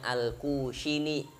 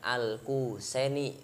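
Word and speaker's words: الخزيني: dan Nun Al khusus ini bacanya al-khoziny bukan al-husseini niroha kalau al-qusyairi entar tukang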